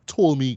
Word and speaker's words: Ptolemy: Which is called The Last Days of Ptolemy Gray, right? The P is silent, right?